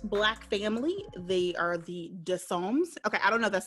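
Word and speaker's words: Dessommes: i've been pronouncing this it's a french name d-e-s-s-o-m-m-e-s-o dissolves any losers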